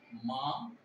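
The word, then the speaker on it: 吗: দেন last one fifth tone, fifth tone হলো মা, just কোয়েশ্চনের ক্ষেত্রে মাটা ইউজ হয়, মা নিউট্রাল টোন, ওটা এখানে কোনো টোন ইউজ হবে না, কিন্তু এটা প্রশ্ন করার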